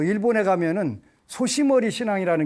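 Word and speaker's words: 牛頭: 이런 신앙도 있고 그 일본에 가면은 소시머리 신앙이라는 게 있대요. 소시머리라고 읽는데 한자로 우두라고 읽는데 그 발음은 소시머리라고 하는데 이게 무슨 뜻인가를 일본 사람들 보는데 소위머리인데 소시머리라고 이렇게 읽더라는 거 우두라고 써놓고 이게 한국에서 건너간 거겠지 당연히.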